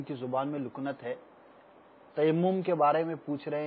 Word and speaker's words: تیمم: لانا آسان ہوتا ہے۔ تیمم بہت کم کرنے کا موقع ملتا ہے تو اس وجہ سے اس کا تلفظ صحیح طور پہ ادا نہیں کر پاتے۔ تیمم، بعض سوالات جو ابھی ریکارڈڈ آئے تھے اس میں تیمیم کے بھی الفاظ سنائی دیے گئے تھے۔ اب وہ تو